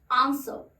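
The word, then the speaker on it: answer: सो देखिए, ब्रिटिशर्स इसको कहते हैं आंसर, स बोल के छोड़ देते हैं, लास्ट का र स्किप करते हैं, आंसर, आंसर, ठीक है।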